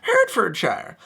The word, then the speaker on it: Hertfordshire: You have to pronounce it with that accent as well. I know it doesn't matter for most of these, but this one has to be Hertfordshire. Otherwise, people will laugh at you.